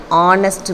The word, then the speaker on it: honest: sound he is an honest man the H is silent so the first sound